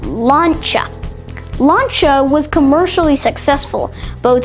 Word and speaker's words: Lancia: It's owned by Fiat Chrysler Automobiles, or FCA, and it's not pronounced Lancia, but Lancia.